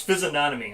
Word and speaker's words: physiognomy: The C or the GN is silent. So physiognomy. So it's physiognomy.